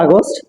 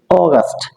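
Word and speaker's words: August: বলব ঠিক আছে এরপরে বলতাম আমরা আগস্ট নট আগস্ট টলবি অগস্ট অগস্ট অগস্ট ঠিক আছে তো আমরা বলতাম সেপ্টেম্বর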